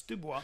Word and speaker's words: Dubois: If you were Canadian, you'd know Dubois, how to pronounce or French or educated. It's Dubois. No, I know it's Dubois, but Dubois?